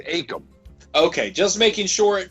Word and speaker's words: Akam: real quick real quick is it pronounced akem or akam they always said akem okay just making sure